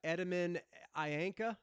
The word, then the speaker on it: Etemen Ænka: new dune record i'm assuming i'm going to pronounce this correctly uh edmund ayanka did i get it that's right that's right